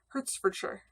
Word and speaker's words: Hertfordshire: Or wait, I said Shire, didn't I? Hertfordshire. Is that it? Did I say it right? We always want to say everything is Shire when we're, you know, silly Americans. But it's sure.